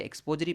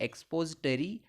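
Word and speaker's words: expository: एक्सपोजिटरी passage, इसके उच्चारण में काफ़ी विषमताएं पाई जाती हैं, कोई इसे एक्सपोजरी पैसेज कहते हैं परंतु इसका नाम है एक्सपोजिटरी पैसेज।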